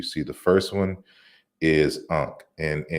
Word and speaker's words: Ankh: So you see the first one is Ankh, and keep in mind that this is 3 consonants in a sequence.